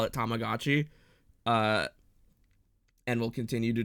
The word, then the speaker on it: Tamagotchi: you knew that it was tech it's technically pronounced Tamagotchi um I I and like 80% of the rest of the world call it Tamagotchi uh and will continue to do so um